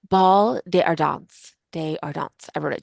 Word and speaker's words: Bal des Ardents: they call the wait I literally just listened to this like seven times so I could pronounce it ball de ardons de ardons I wrote